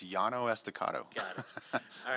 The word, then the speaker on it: Llano Estacado: to mess up the name of this, the pronunciation of the street. I'll bail you out if you want. Please do, sir. It's Llano Estacado.